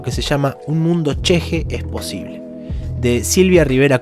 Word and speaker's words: ch'ixi: Y por si lo buscan por ahí, se escribe Chixi, CH'IXI, Chixi. Pero entiendo que se pronuncia cheje de haber escuchado algunas entrevistas y haber visto a la propia autora hablar de este concepto